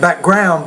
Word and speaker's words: background: work history okay and that one word is not background but it's back ground so what else was compound words like that you need to pronounce that both of the words no it's the first part of the word you want to stress more in Mexico in studying